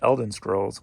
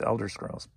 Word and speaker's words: Elder Scrolls: in a posh video because i think i mispronounced that and called it elden scrolls when it's elder scrolls but uh sold for